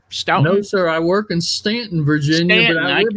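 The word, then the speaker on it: Staunton: Now you are in, what is it, Stoughton? No, sir. I work in Stanton, Virginia.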